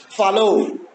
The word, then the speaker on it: follow: A final syllable is also unstressed if it contains O. For example, follow, borrow. That is why as you have O at the end, and that is why it is unstressed, so the first one is stressed.